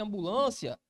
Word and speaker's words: ambulância: Ambulância, penúltima posição.